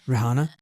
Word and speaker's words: Rehiana: It's not hard, Raana. Yeah. Well, you pronounced it wrong the first time.